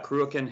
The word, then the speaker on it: Cruachan: Could you tell me how it's spelled or how it's pronounced? Yeah, Cruachan Hill Press. Cruachan, okay.